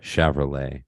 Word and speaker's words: Shavrolet: Cool, spelled like Chevrolet, but with an S and an A instead of the E, right? Yeah. It's like a Mexican would say, Chevrolet. Not like this is my Chevrolet.